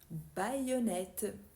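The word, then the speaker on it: baïonnette: maïs en non encore avec a I et le tréma on a haï air baonnette aoli parmi d'autres et si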